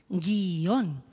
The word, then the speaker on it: guion: Cómo que es monosílaba la palabra guion es bisílaba guion tiene dos sílabas clarísimas estas dos vocales forman